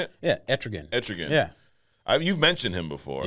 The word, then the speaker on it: Etrigan: Yeah, Etrigan.